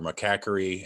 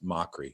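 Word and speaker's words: Mochrie: People say mockery or macaquery, and it's mockery.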